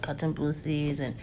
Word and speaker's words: Katumbusi: So when people are looking me up, they'll say, "Oh, it's multiple Katumbusis or Katumbusi as I pronounce it."